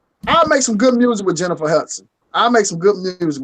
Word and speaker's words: Jennifer Hudson: Jennifer Houston. Hudson. Sorry, I'm saying the fucking name wrong. Wow. Hudson. Oh, Jennifer Hudson.